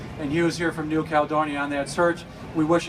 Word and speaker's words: New Caledonia: So in the farthest trek from home category, we have Hugh Drian from Pneumonia, if I get that pronunciation correct, or I did not pronounce it, New Caledonia.